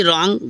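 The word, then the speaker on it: wrong: हो गया तो देखो तो अगर डब्लू के तुरंत बाद आ रहा है तो डब्लू साइलेंट हो जाता है इस तरह से आपको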